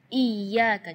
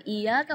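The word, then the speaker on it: إياك: Iyyaka, jadi tekanan iya dengan iyaka. Kalau iyaka berarti tidak ada tasydidnya. Jadi iyyaka na'budu wa iyyaka nasta'in.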